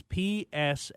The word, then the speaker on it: Psalms: the psalms you hear me using that it's p-s-a-l-m-s and it's pronounced psalms and i would think almost everybody